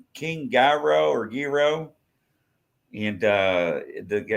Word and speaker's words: gyro: It's called King Gyro or Gyro. And the guy is how you say it? Gyro. It's Greek. Yeah, say it again. Yeah, gyro. What do you say? They say around here, hero.